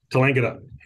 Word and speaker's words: Tallangatta: Is anything, because you've also got the 2 projects over in Victoria, that's Gingelic and I can't pronounce the other one, it begins with T, Tallangatta, I think. Tallangatta.